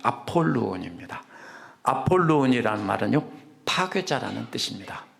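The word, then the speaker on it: Ἀπολλύων: 그리스어로는 아볼로이라고 했는데 아입니다 비가 아니고 피 발음입니다 아폴로 있니다 아폴로이라는 말은요 파괴자라는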